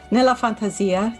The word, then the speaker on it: Nella Fantasia: Nella Fantasia.